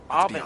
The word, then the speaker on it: Aubin: Aubin, that's how you say his name.